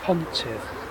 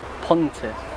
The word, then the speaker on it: pontydd: Okay, the sixth word, which means bridges, is pontydd. Pontiff.